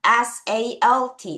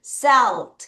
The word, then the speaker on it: salt: 이렇게 끊어서 L 발음해 주셔야 돼요. 자, 그러면 A가 무슨 발음이지? 에 발음이기 때문에 어떤 사람들이 SALT 이렇게 읽겠는데 여러분 항상 선생님이 하던 말이 있죠? AL이 붙어 있으면 어떤 발음 나요? Earl. 자, 그 상태로 갑니다.